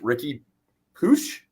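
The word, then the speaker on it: Riqui Puig: Key players to watch: Ricky Puig. Is that? Thank you. That's how you say it.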